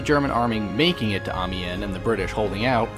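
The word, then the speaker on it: Amiens: logically next we have amen amen yes that is how it's pronounced despite its spelling is the second map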